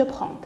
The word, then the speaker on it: prends: Et je ne prononce pas le D. On ne dit pas je prends. Je prends. Ces deux lettres sont muettes.